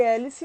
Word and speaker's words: hélice: nós não nesse caso nós não pronunciamos o h então a gente vai para anunciar ué l e então no caso de hélice nós temos aí uma